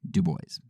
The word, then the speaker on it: Du Bois: lot, and it says that Du Bois actually pronounced his own name Du Bois.